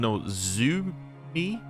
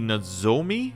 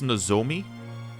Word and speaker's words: Nozomi: Because I was saying Nozumi. It should be Nozomi, I think. I don't know. I guess I was just saying Zoo because it was Z-O.